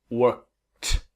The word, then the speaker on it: worked: Step 2, add the sound of T. Work, worked.